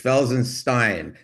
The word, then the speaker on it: Felsenstein: him his entire life, do you pronounce it Felsenstein or Felsenstein? It's Felsenstein.